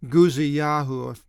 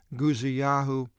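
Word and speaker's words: Uzziyahu: Uzziah's name in the Hebrew, by the way, is Guziyahu. I should have brought out the pronunciation of all these kings in the Hebrew, and I'm sorry I didn't, but Guziyahu is Uzziah in Hebrew.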